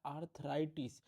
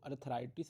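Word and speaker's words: arthritis: case में होता है आर्थराइटिस डेफिनेशन और थोड़ा प्रोनाउंस एशन डिफरेंस है जब नहीं बोला जा रहा है तो धरती को सोचो धरती इज अर्थ तो अर्थराइटिस बोल दिया आपने तो वो इंफ्लेमेशन ऑफ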